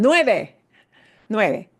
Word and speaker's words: nueve: So, nueve, smile at the end. Nueve.